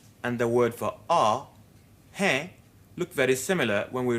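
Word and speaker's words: है: this hey Carol hair but hey in up case a hair is nasalized and pronounced in a different way he let the air come out through the mouth and nose at the same time hey Casey hey in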